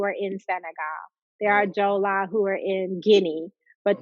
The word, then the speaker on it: Jola: the jolie people and jola is spelled sometimes d-j-o-l-a and sometimes j-o-l-l-a but it's the jola people and you have jola